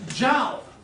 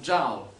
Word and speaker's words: Joule: Questo qui è una energia e l'energia nel sistema internazionale si misura in joule. Ho scritto in piccolo così, alcuni dicono joule, alcuni dicono joule.